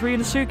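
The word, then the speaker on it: Ryunosuke: at some stuff and i've definitely been saying his name wrong i'm sorry i think it's rina suke is more accurate i'll try and do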